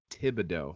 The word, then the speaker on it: Thibodeau: it's I mean, it's Thibodeau.